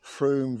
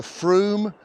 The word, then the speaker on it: Frome: Just to clarify the pronunciation of the river, is it River Frome, as in Broom, or River Frome?